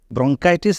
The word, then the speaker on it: bronchitis: ব্রঙ্কিটেসিস বলা যেতে পারে ব্রঙ্কাইটিস আর ব্রঙ্কিটেসিস উচ্চারণগত ভিন্নতা আছে এবং রোগেও ভিন্নতা আছে